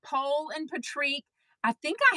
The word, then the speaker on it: Pol: it does make sense I love that it's pole and Patrick I think I have heard the